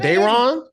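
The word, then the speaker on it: Daeron: it's even spelled black it's spelled d a e r o n said Dron Dron out here so so so so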